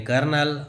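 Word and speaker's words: colonel: कॉलोनल यानी कर्नल.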